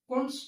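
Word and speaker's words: Kundt: Second method is कुंट्ज tube method. एक tube होती है, इसमें टी साइलेंट है, कुंट्ज ट्यूब बोलते हैं इसको. इसमें टी आपका साइलेंट हो गया.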